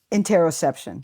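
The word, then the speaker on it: interoception: You just used the word and I and I don't know how to pronounce it in interar interosception.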